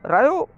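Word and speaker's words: Rio: और द रायो कन्वेंशन, इसको रियो कह सकते हैं हिंदी में, रायो अगर आप प्रोनाउंसिएट करें तो रायो भी कह सकते हैं।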